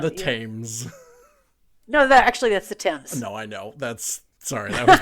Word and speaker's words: Thames: No, that's the Thames. No, I know. That was me mispronouncing that one. The Thamesy.